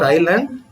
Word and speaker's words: island: see thought look at the next word there Island we have all heard so many times this word Island but when you write the word Island you must you have to write the alphabet